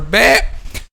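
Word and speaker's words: باء: So this is the difference between letter ba and letter meme. Letter ba is completely depends on the mouth or the lips. Okay, pressing or closing the two lips together.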